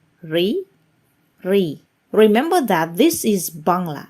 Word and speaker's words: ঋ: So how do I pronounce the Ri? It actually can be related as the same pronunciation of Ri in the word resigned in English.